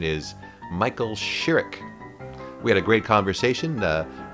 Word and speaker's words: Michael Chirrick: Later on I call him Michael Chirrick, and he corrects me, so now I know what the proper pronunciation is Michael Chirrick.